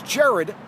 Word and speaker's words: Gerard: if you use it in the paper it's Jared g-e-r-a-r-d bro and besides I have a